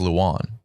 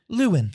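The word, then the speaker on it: Lewan: I didn't know how to say Taylor. It's Lewin. I thought it was Luan. Wait, what? I checked You Google do and it too? I clicked the mouth. Lewin.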